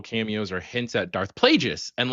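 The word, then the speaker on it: Plagueis: like uh little cameos or hints at Darth Plagius and like really where they were going to go. Love the idea. It's pronounced Plaggius.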